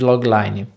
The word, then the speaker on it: logline: já me reportou que minha pronúncia às vezes não é tão boa. É Logline, logline.